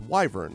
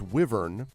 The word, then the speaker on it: wyvern: on this of wyver I thought it was Wy V RN is wyvern like the letter Y then people were like no it's wyvern so then I felt